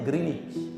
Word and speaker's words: Greenwich: bromich orang GMT aja bukan Greenwich Pak bacanya greenich hati-hati loh Jangan meremehkan